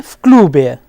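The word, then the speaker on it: в клубе: manner of pronunciation is the sound of v changes into f sometimes, like v klube will be fklube, v centre will be fcentre, etc.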